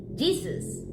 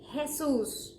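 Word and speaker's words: Jesús: say that one because if you said Jesus as as you say it in English well you're mistaken we say Jesus because our JS are actually sort of like your H is hesus and yes there there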